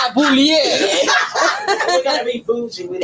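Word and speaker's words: Bulleit: Bouliette. Yeah, I'm not. Boulier. We're gonna be bougie with it. That's how it's spelled. But this is a bullet tonight.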